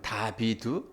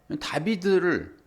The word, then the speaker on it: 다비드: 그런데 이게 다윗이라고 했을 때 이것은 다비드거든요. 다비드. 다빗을 우리는 다윗이라고 읽어요. 다비드를 우리가 이제 이거 히브리어를 공부하고 있으니까 알파벳 공부하고 있잖아요, 지금.